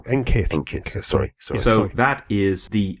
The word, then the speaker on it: NQIT: calling it NQIT, because we've been advised to pronounce the Q with a K sound, so that it comes out as NKIT, because kit is very empowering and exciting and sounds a bit sporty, whereas quit sounds terrible.